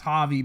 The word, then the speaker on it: Javi: Black Ranger's name is Javi, because, you know, the J sounds like an H, because again, like Javier, you know, like instead of saying Javier because it's not pronounced right.